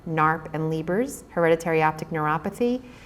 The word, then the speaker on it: NARP: DNA disorders um they're spelled out here and pronounced meas murf narp and liers hereditary optic neuropathy so while this